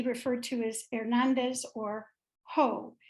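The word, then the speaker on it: JOH: to as Hernandez or ho his initials are j-o-h and in Spanish that's pronounced ho you will see and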